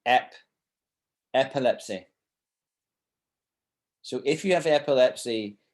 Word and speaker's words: epilepsy: you were almost perfect epilepsy is how we say it epilepsy so the emphasis on the first syllable ep epilepsy so if you have